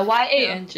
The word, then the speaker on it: Yang: Yeah, Y-A-N-G is like, pronounced as Y-O-U-N-G, Yang.